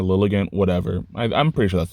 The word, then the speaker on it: Lilligant: Because it's like Lilligant, like elegant, and like lily, like a flower, Lilligant, whatever.